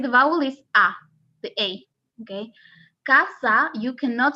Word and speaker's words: casa: a rule okay so if the s is after a vowel you have to pronounce the s okay like let me give you an example casa as you can see in casa which is home or